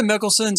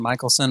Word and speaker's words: Michelson: Now for the Mickelsons, I went ahead and added the mother of Celeste Mickelson here, or Michaelson. I think Michelson's probably how to pronounce it. Michaelson. I said Mickelson. Michaelson.